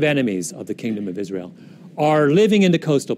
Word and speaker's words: Israel: 자, 우리 이스라엘이라고 하는데 영어에서는 Israel. 왜냐면 이 I 앞에 있는 여기 강세가 있기 때문에 first stress 강세이기 때문에 Israel 이렇게 발음이 되는데요.